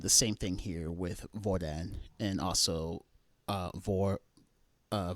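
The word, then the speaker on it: hvordan: d uh vil uh the h is not pronounced and the same thing here with voran and also uh vor uh vafor and vonoa.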